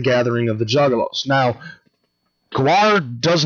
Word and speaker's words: Gwar: The alien overlords themselves, Gwar, and that's how it's properly pronounced, Gwar, is also coming to the gathering of the Juggalos.